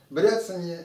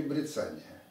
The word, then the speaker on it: бряцание: Бряцание или брицание? На каком слоге надо делать ударение? Вот как ни странно, это совершенно не важно. Можно говорить и бряцание, и брицание, все будет правильно.